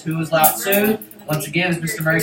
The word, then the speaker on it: Lao Tzu: There's no T. I don't see S-U-E for Sue. No, trust me. It's Lao Tzu.